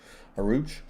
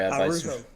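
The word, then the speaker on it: Araujo: Pablo Aruch. Sorry, Arujo. Arujo. Okay, sorry, Pablo. The J is pronounced like an H.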